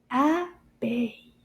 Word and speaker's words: abeille: Abeille. Abeille. How many syllables? Abeille. Deux syllabes dans le mot abeille.